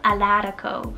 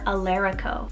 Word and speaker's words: Alarico: on the list so i have the name alarico or alerico so a-l-a-r-i-c-o so this is a variation of